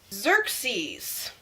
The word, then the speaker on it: Xerxes: It's a z-er-k-s sound.